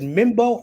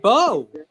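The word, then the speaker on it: Mbow: Marcus, is it Mimbo or Bao? It's just Bo. Oh, Bo.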